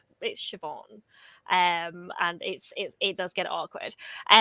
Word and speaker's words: Siobhan: Like Sayoben is one that I have never heard of, and it's Siobhan.